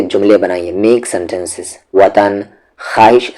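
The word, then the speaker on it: خواہش: बनाइए make sentences वतन ख्वाहिश ख्वाहिश की स्पेलिंग याद कर ले खा वाव जिसमें वाव साइलेंट है लिखा जाएगा पढ़ा नहीं जाएगा खवाहिश सबक माजरा सदमा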